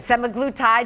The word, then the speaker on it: semaglutide: SUGGESTING THAT THAT RISK INCREASES FOR PEOPLE USING SEMAGLUTIDE. I HOPE I’M PRONOUNCING THAT RIGHT, DOCTOR ALICE CONNORS KELLGREN, A CLINICAL PSYCHOLOGIST AT TUFTS MEDICAL CENTER.